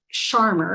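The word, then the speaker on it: Scharmer: So I first discovered, I don't know why I always want to put a W in Sharmer's name. I think it's probably Sharmer is how you pronounce his last name.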